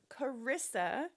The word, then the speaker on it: Charissa: First question, Charissa. Is that your given name? It is my given name. It is, with a silent H in it.